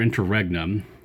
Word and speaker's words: interregnum: Interregnum, or interregnum, which is the American pronunciation, but I prefer the French one, Interregnum.